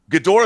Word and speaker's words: Ghidorah: but did you notice her pronunciation of gidra she said it gidora so it sounded more like gidora is proper right I was say